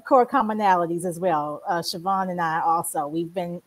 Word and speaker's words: Shvon: Uh as So, my name is Siobhan. I did not spell it.